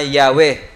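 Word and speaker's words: Yahweh: ay ginamit para sa pangalan ng Diyos na yahwe o naman yung tamang pronunciation non okay Kaya sa bible natin Instead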